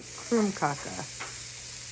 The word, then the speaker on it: krumkake: home to a norwegian krumkaka that's right krumkaka and that's how you say it i just got this